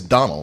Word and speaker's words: Domhnall: like what's his name, Domhnall Gleeson? Gleeson. It's Donald. That's the way you pronounce it.